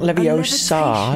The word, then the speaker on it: Levioso: Levioso. It's not Levioso, it's Levioso.